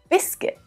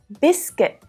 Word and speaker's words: biscuit: Now let's check out a couple of other examples because it's quite common to see UI in English words, but to only hear the short I sound pronounced, like in circuit, biscuit, guilty, and guitar.